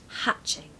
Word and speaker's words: hatching: New Life pronunciation tip it's a short a so hatching hatching okay you really want that back of the throat sound the short a hatching stress the first syllable number ten we've actually